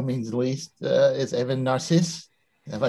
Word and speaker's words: Narcisse: certainly by no means least uh is evan narcisse have i pronounced it anywhere anywhere near correctly evan you were close danny i say narcissus i also accept narcisse uh but um i am a writer uh